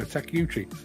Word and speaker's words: Takeuchi: yes indeed Peter McKenna takiuchi pronounce how how it's spelled has anyone ever seen